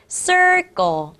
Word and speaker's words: circle: circle. circle. Very good. 발음 조심해야 됩니다, 친구들. 여기는 C가 S. 여기는 C가 K가 되겠죠. 그래서 circle이라고 발음이 나는 겁니다.